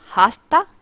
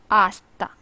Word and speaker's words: hasta: after that it is hasta it is not hasta it is asta the next word is mañana it's near the